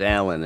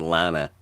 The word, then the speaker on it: Alan: Lana's a dude. It's Alan. It's not Lana.